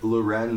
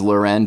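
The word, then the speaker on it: L'Wren: jagger was in a relationship with fashion designer loren scott yeah who i guess like a famous person are you saying her name is loren just because she's in the fashion industry it's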